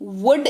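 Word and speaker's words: would: वुड का इस्तेमाल करेंगे व ओ यू एल दी वुड इसको पढ़ते हैं एल अगेन यहां पर साइलेंट रहता है वह शायद मदद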